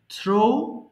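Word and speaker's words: through: side ছিট ছিডেন এরপরে থ্রো নিক্ষেপ করা থ্রো থ্রু থ্রোন এই যে মাঝখানে এটা আমরা সারাজীবন থ্রি বলে আসছি এটাকে অবশ্যই থ্রু বলবেন হ্যাঁ এটা হচ্ছে সঠিক উচ্চারণ থ্রু নট থ্রু এবার থ্যাঙ্ক ধন্যবাদ দেওয়া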